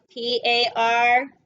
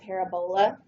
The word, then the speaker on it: parabola: Okay, P-A-R-A-B-O-L-A. It's kind of spelled like a disease, right? We want to call it a parabola, but it is a parabola.